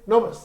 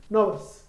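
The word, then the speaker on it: novice: इसके लिए आप यूज कर सकते हैं नोवस। नोवस बोलते हैं इसकी राइट प्रोनाउंसिएशन नोवस, नोविस नहीं, नोवस।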